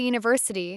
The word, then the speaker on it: university: Here the word university starts with the letter U, but the sound is U, which is a consonant sound. So we use a university, not a university, a university.